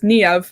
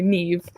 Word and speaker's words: Niamh: the spelling alone, because the Irish say it as Niamh and stress the A, but over here in the UK we just say Niamh.